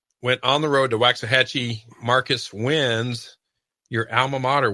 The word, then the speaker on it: Waxahachie: I believe that's pronounced Waxahachie.